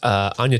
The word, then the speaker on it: Anya: It's Anya Taylor-Joy, right? It is, yeah. And that's not how you say her name, right? It is Anya. Anya Taylor-Joy, okay. I got it. It's okay. Almost everyone says Anya.